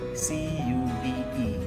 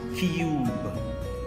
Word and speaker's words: cube: separated by letter b c u b e is pronounced Cube Cube the sound is stopping at the letter B because the E is now silent t u b e